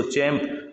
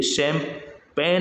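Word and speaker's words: champagne: उसी प्रकार देखिए इसमें चैंप बोलते हैं इसको, चैंप, लेकिन चैंप नहीं बोला जाता एक्चुअल में, ये शैंपेन है। क्या है ये? शैंपेन है। इसमें जी साइलेंट है, इसमें कौन साइलेंट है?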